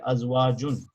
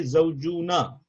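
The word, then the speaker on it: أزواج: So wife, and then that is how you say azwajun. So you don't say zawjuna, right? Zawuj or zawj. You're not gonna say zawjuna like muslimun or muslimuna.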